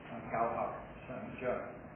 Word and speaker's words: 教学相长: I think the Cantonese pronunciation for that proverb is Gao Hak San Jia.